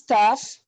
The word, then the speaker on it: tough: The other word is tough. It sounds like F because G and H is F.